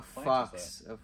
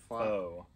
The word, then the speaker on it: faux: A fox. Wait, faux. No. It's faux. P-F? It's faux. F-A-U-X. Is that how you say it? Yes, faux? It's faux. That's it's crazy. Not, it looks like fox.